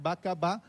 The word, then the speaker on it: Bacab: Entonces, aunque hay 3 signos Bacaba, Ba, Ca y Ba, solo leemos Bacab. Bacab. Esa H se añade porque sabemos por cuestiones históricas que debe existir. No es una H muda, es Bacab, suena esa H.